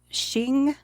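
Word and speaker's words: Qing: Ming and is it Shing q i n g I think it's pronounced I think it is Shing yeah the Ming and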